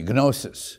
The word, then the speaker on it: gnosis: There you can use the hard G, gnosis, which means knowledge.